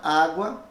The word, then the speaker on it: água: grafia da escrita dela agora olha a palavra água a palavra cota que também pode ser escrita com a letra C em vez das letras que o agora a letra u é pronunciada fracamente bem sendo pronunciada fracamente você sabe que estará